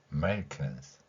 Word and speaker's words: Americans: 자, 미국을 이야기할 때 어를 한국인들의 특성상이 너무 강한 소리이기 때문에 어를 강하게 해버리면 뒤에가 연결이 안 됩니다. Americans 차라리 어를 생략한 상태로 발음하는 것이 더 나은 경우가 있죠.